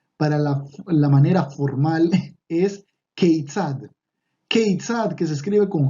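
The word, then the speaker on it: כיצד: Y la otra palabra, la que es para la manera formal, es keitzad. Keitzad, que se escribe con Haf, Yud, Tzadik, Dalet. Otra vez, Kaf, Yud, Tzadik, Dalet. Y esto suena Keitzad.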